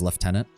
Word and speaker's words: Lieutenant: special in that regard you should pronounce Lieutenant as left tenant oh I could try